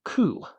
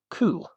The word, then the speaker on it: く: This is C. It's just the K sound plus the ooh from ooh. And it sounds a bit like the coup of a bird. Coup.